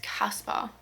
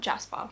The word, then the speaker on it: Casper: It's Casper, not Jasper.